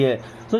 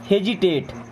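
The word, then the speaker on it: hesitate: बट ये होगा hazy. और इसको क्या पढ़ेंगे? टेट। हेजिटेट।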